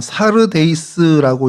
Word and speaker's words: 사르데이스: 어 사르데이스라고 이제 헬라어로는 그렇게 발음을 하는데 그래서이 단어 뜻을 여러 가지로 이제 생각을 해요.